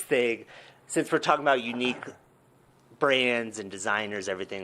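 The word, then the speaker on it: YNIQ: yeah really really cool stuff how do you pronounce the name of these unique oh yeah so i i know it's spelled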